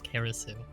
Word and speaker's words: Kerasu: the same handle or Kerousu. Uh, here here's here's a here's a fun little thing. Uh, you guys have been mispronouncing my name all night. It's Kerasu.